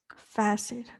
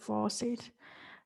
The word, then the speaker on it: facet: Okay, I need to know how to pronounce that part, which is facet, not faucet. It's facet.